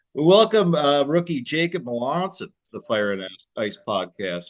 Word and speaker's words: Melanson: about you that that suggested pronouncing it like the city in Italy pronounce it like Melanson yeah exactly okay but I think at first the beginning of this year I probably had like melon like a cantaloupe Mel